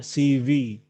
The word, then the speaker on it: CV: Bukan itu cara bacanya adalah CV. CV. CV. Ya, V. F-nya agak berat, V.